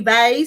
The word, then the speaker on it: Vay: Some people would call you Vay, so I just picked that up. Yep. Some of them were pronouncing it funny, and I said, no, it rhymes with hey. Hey, they. Hey, Vay.